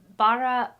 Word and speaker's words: Baratie: And they said that it's the baratie, the baratie.